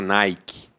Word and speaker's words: Nike: Nick escreve como a gente pronuncia ou como a gente lê na marca Nike.